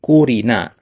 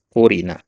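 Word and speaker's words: قُرِنَ: asul alahqasarajidu fiil ayati ya kurina ya jadi itu bacanya qurina mabni lil mabniil majhul dari kata qorona ya tapi Perhatikan di sini qurina di sini naibul fa'ilnya mana?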